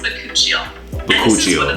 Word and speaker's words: bakuchiol: It's pronounced bakuchiol. And this is one of the main ingredients in our bakuchiol.